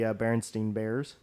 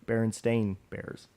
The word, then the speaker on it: Berenstain: That's not how you pronounce it, though. It is spelled stain. Yes. But it's pronounced differently. Yeah. So fucking Germans. But yeah, I mean the Mandela effect on that one is basically it's STEIN versus STAIN, and it's actually spelled STAIN on their name.